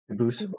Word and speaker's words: Dubus: They do pronounce it dubis, but you said you pronounce it dubus as the original dub boost as the original French and prosay.